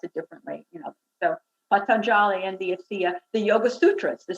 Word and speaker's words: Patanjali: So one of the great teachers, Patanjali, everybody pronounces it, a lot of people pronounce it differently, so Patanjali, and the Yoga Sutras.